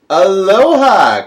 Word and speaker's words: Aloha: a trip to Hawaii Aloha Christina I went to Hawaii once when I was six and by the way Mr Horgan you don't emphasize the third syllable in Aloha only the second next up was three